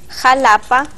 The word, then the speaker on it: Xalapa: ¿Por qué escribimos México, Xalapa, Oaxaca, Texas y decimos México, Jalapa, Oaxaca y Texas? En el español antiguo, la X se pronunciaba con una CH, suave, que se convirtió en una H aspirada.